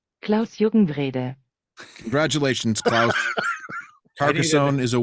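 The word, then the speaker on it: Klaus-Jürgen Wrede: This is the correct pronunciation of the designer's name. Klaus Juckenwrede.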